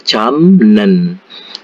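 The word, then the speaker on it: 잡념: camnen ini ini kan tulisannya jabnen ya capta japta itu memegang ya jabnen Ini dibaca jamnen ya seperti itu Jadi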